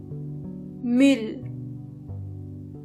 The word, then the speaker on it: Müll: This letter is pronounced Ü. To get the sound, start with a normal U and then make your lips even closer to each other.